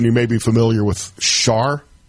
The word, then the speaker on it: Char: So, in Jackson, you may be familiar with Char. C-H-A-R? I think I'm pronouncing that correct.